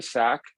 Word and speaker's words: SA3CC: the name of the SAC to include Africa, and also for consistency with the name of the AmLite project, which also includes Africa. The new abbreviation is SA3CC, and it's pronounced SAC just as before.